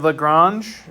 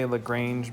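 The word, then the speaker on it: Lagrange: So, notation, we have Lrangege is how you say that. Some people say Lrangee, but that's not correct.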